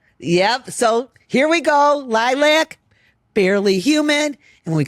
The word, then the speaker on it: LYLVC: We're going to play Barely Humid by the band Lilac. And you spell it L Y L VC. Correct. Yep. B instead of A, baby. Yep. So, Yep. So, here we go. Lilac.